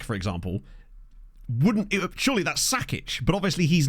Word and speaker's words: Sakic: Like Joe Sakic, for example, surely that's Sakic, but obviously he's not from there.